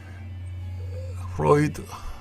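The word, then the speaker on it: Freud: 아 그 밑에 제 프로이드 킨제이 마스틴 앤 존슨 프로이트라고 하는 거는 독일어 발음인데 어 우리들은 그냥 프로이드가 그래요 프로이드 왜냐하면 그 정신 분석가는 대단한 사람들이 다 영미권이에요 90 프 이상 그리고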